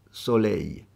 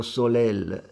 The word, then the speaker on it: soleil: orecchie come cadron typ solei non si dice Soleil o Soleil o solel si dice cadron Tip solei soi Oh il bracciale